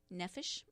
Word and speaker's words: nephesh: you n Eph esh nefesh is how i pronounced it phonetically i don't guarantee that's